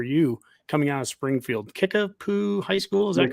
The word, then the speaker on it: Kickapoo: Kickapoo High School, is that correct? Correct. Kickapoo.